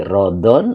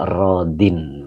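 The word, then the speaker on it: راضٍ: Ya, berarti rodin ini isim yang jir bisa, nasab, bisa, rafa bisa gitu tetap rodin tidak terjadi rodon atau rodun. Jadi dibacanya rodin begitu Kang Agung ya.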